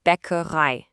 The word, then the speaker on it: Bäckerei: Die Bäckerei. The key part here is that I sound at the end. It sounds just like the English word I.